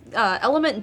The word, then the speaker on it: LMNT: Is it pronounced Element, I think? It's LMNT.